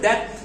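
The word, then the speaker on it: that: আচ্ছা, and dad, একটা হচ্ছে দ্যাট, একটা হচ্ছে ড্যাড। দেখো দ্যাট এর সময় আমাদের জিহ্বাটা আপার যে তীর ছিল সেটা লাগছে, দ্যাট, দ্যাট।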